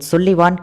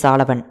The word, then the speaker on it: Sullivan: அவரோட பேர் SULLIVAN சுல்லிவான் கிடையாது, சாலவன். அதாவது கிட்டத்தட்ட சாலமன் அப்படிங்கிற மாதிரியே தான் கேட்கும். ஆனால் சாலமன் கிடையாது, சாலவன் அப்படிங்கிற மாதிரி தான் அதை ப்ரொனவுன்ஸ் பண்ணுறாங்க.